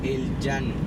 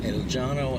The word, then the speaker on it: El Llano: How do you pronounce that again? El Llano.